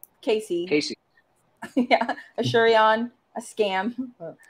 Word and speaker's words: Case Easy: brand of cases called case easy pronounced casey yeah a shurion a